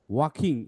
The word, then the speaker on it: walking: One sunny day, Taigo was walking, এখানে এলটা silent, near the river.